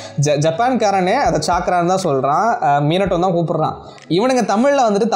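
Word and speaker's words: ミナト: அது வந்து மீனட்டோ இல்ல ப்ரோ, மினாட்டோ ப்ரோ, காகஷி ப்ரோ, மதரா ப்ரோ அப்படின்றாங்க.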